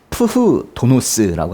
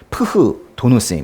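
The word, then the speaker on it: φθόνος: 헬라어로는 푸흐 도노스라고 하거든요. 좀 막 쓰면 그냥 푸도노스인데요. 푸도노스인데 사실 원래 발음할 땐 푸흐도노스. 그냥 푸흐, 응? 푸흐도노스 해보세요. 푸흐도노스 이렇게 읽는데요.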